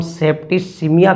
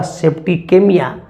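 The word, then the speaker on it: septicemia: Okay, तो याद रखिएगा अगर सी के बाद यहाँ पर अगर स्पेलिंग में ई है तो इसको हम सेप्टिसिमिया कहते हैं, और अगर कोई ये यहाँ पे डालता है तो उच्चारण होगा सेप्टिकेमिया। ओके, तो याद रखिएगा ये सेप्टिसिमिया है।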